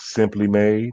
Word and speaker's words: S'Hemply Made: this is how it's spelled but it's uh pronounced simply made they have shea butters cbd oils lotions and